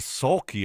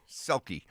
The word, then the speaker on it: Selke: The Sulky Award. Not Sulky. Oh. Selke.